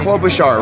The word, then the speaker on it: Klobuchar: Hey, Senator Klobuchar, right?